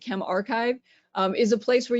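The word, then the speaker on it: ChemRxiv: Um, but I guess Chem RXIV or they say to pronounce it Chem Archive, um, is a place where you can put preprints of papers.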